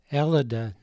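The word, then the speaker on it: Ελλάδα: How would you pronounce this word? Elida, which is the name for Greece in the Greek language.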